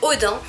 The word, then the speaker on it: Odin: Et du coup le premier, alors moi je le prononce à la française, hein, je vous le dis tout de suite. Donc le premier sous-menu s'appelle Odin.